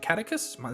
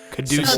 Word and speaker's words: caduceus: The not the is it catechus? Is that how you say it? I can't remember. The double snake. Caduceus.